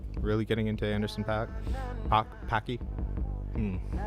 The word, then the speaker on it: Paak: Packy. Pack. Maybe not Packy. I've heard it pronounced pack.